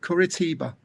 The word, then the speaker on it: Curitiba: Kuritiba.